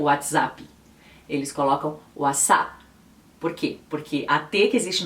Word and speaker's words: WhatsApp: de cada dia é conhecido pela maioria dos estudantes como o as a o as a e essa p também quase não é pronunciada por que ela não vem seguida de nenhuma e depois então quando isso acontece não é comum que eles adicionem uma e como a gente faria